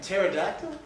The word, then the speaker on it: pterodactyl: couldn't have been a pterodactyl did you go the P is silent in that where did you get